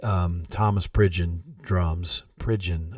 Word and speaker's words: Pridgen: Thomas Bridge in Drums Pridgen I think is how you say that I've got it on